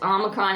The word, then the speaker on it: omicron: Your short is omicron as in hot.